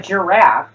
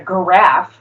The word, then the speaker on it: giraffe: God do you it's God what about a giraffe it's not a graph it's because of the grammatical structure of the